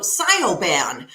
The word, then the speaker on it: Siobhan: even uh i have my nickname is also cynoban which is the way it's spelled yeah and a lot of people call me that because when they're writing out my name that's the way they say it so when i used